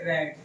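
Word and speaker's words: read: न रेड the book इसको हम प्रोनाउंस क्या करेंगे रेड बिकॉज हैव आया है परफेक्ट है तो वर्ब की कौन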